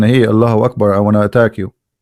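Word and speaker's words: الله أكبر: So when a Muslim, he says Allah, you notice he pronounced something. He say Hu Akbar, correct? Hu Akbar. But when they say it, but they don't write it. Hu Akbar. Allahu Akbar.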